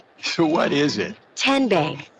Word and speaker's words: TN Bank: TN Bank? No. Tin Bank? So what is it? 10 Bank. 10, as in Tennessee.